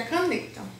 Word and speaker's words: caneta: Ah, mas agora, eu tenho um outro exemplo aqui pra vocês, que é caneta. Caneta. Qual é a sílaba mais forte? É o ne.